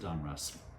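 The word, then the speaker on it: Donruss: Russ Russell and so they came together put their names together and so uh that's why it's called Don Russ and that's why I pronounce it Don Russ so 1982 Don Russ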